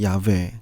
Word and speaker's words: 야훼: 게 윕헤이 밥헤이가 되는데, 여기에 임의로 모음을 붙여서 발음했던 것이 야훼, 즉 야훼입니다. 이것을 각국에서 번역하다가 우리나라로 들어올 때 여호와로 읽게 된 것입니다.